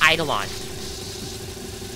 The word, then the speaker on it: Eidolon: think it's called and they supposed to be pronounced as eidolon if you zap the petals enough they should